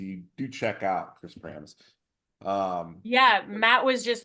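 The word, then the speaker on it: Pramas: Promise, is that how I said it? Did I say it right, Matt? Pramus, maybe? I think Pramis? it's Pramus. Pramis.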